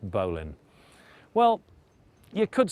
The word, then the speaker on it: bowline: bowling that's spelled bow line but it's always pronounced bowan well you could say that was true I